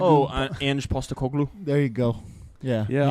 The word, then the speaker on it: Postecoglou: Pasalalu. Pastelagu. Oh, Ange Postecoglou.